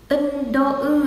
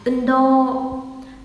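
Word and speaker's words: うんどう: À, ưn đô ư à? À không, đọc là gì nhỉ? Ưn đô, ưn đô.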